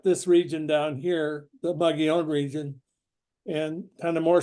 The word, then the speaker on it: Mogollon: this sort of strange looking word molone it's pronounced mugon and it is uh kind of one of